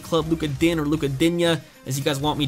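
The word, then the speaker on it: Digne: Luka Din, or Luka Dinya, as you guys want me to pronounce it. I believe it's actually pronounced Din, but I will pronounce it Dinya for you guys.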